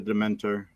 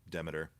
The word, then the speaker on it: Demeter: Yeah, last voyage of the Dementor. Justin, isn't Demeter? Demeter. Yeah. However you choose to pronounce it.